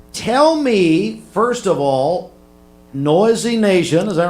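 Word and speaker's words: Noyzy Nation: So that's actually why how I came up with the name Noisy Noisy Nation. Yes, sir. Noisy Nation. And it's how spell that.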